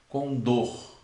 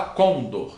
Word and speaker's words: condor: Você não fala condor, você fala condor, que é uma ave.